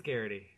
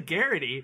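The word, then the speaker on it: Gerighty: creative director Julian gity I think it's gity all right that was good cuz I wouldn't have pronounced it like that but now that yeah now that you said it I was like oh yeah it's toally totally gity I was like gy that's why you told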